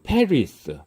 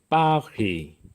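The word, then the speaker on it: Paris: 그래서 우리가 영어로 페리스, 프랑스의 수도는 프랑스어 발음으로 파리. 제일 뒤에 페리스의 S는 프랑스에서의 마지막 자음은 발음이 안 되는 경우가 많죠.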